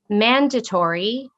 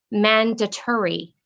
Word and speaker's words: mandatory: also has two pronunciations your word can be pronounced mandatory or mandatory it means required helmets